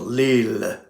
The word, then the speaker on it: Lehle: I pronounce it Lehle because originally, years and years ago, maybe 20 years ago, you went to their website. How do you pronounce this? And there's a little button you could press, and you hear some guy in Germany going Lehle. And now they pronounce it Lehle for some reason, but I like to pronounce it Lehle because it sounds more, more cultured.